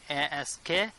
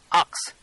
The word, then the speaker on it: ask: Many people cannot pronounce this one. ASK. They used to pronounce ox.